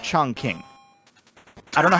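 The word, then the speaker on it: Chongqing: pronounce it it's pronounced chong king i don't know how they it up but every character in that game gets it wrong probably an um when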